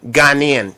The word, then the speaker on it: Ghanaian: How do what is the population in Chicago uh of of the Ghanaian committee? I I didn't want to mispronounce it. Is it Ghanaian? Ghanaian. Ghanaian like in Ghana.